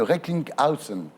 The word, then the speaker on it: Recklinghausen: Votre patient, Jérôme Hamon, donc, que nous recevrons, est atteint de neurofibromatose ou la maladie de Recklinghausen. Alors, Vous le prononcez bien, c'est bien.